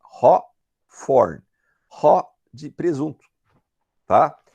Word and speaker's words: Hawthorne: Vejam, não é Hawthorne, não é Hawthorne, é Hawthorne. Haw de presunto, tá? E TH em inglês tem som de F, então é Hawthorne. E a gente não pronuncia o E no final, Hawthorne.